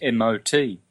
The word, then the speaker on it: mot: The French word for word is M-O-T, backwards for Tom. Mo. They don't pronounce the final T, but they say mo.